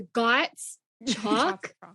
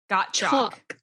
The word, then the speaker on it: Gottschalk: thought it was a gots chalk it's got choc like you bought chalk for your chalkboard so the s is silent well you know what's